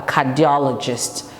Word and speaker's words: cardiologist: it's a four um it's a four syllables word a cardiologist so if you're not